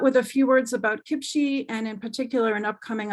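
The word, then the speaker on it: CPCHE: So Kipchi, the Canadian Partnership for Children's Health and Environment, pronounced Kipchi, is a national collaboration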